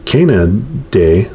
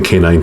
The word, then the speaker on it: canine: animal that belongs to the canaan day and i mispronounced that too it's like the canine family right which also includes